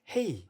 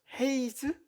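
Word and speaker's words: hej: 읽을 수 있을까요이 단어는 스웨덴어 단어로 안녕을 의미하는 헤이 나 발음하는 단어입니다 저는 처음에 딱 끝단어가 제2로 끝나가지고 헤이즈 이렇게 읽지 않나라고 얘기했다가 교수님한테 좀 창피를 당했었는데요 그렇다면이 단어가 어떻게 헤이랑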